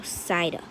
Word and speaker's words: Psyduck: energy um darkamala yeah the p is a silent letter so psyduck magikarp video froggit ear